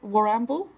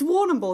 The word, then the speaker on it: Warrnambool: will ramble I figured where is war amble Warrnambool Warrnambool it's Warrnambool that's the pronunciation of that place okay I'm gonna find